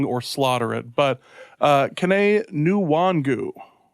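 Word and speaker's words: Kene Nwangwu: slaughter it but uh caney new wangu yeah and that's the that's the pronunciation i saw spelled out so i'm gonna go with that one um he's interesting he's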